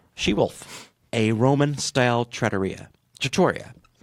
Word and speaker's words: trattoria: a Roman style trattoria trattoria trattoria know the penultimate symbol syllable in a time trattoria all right however and remember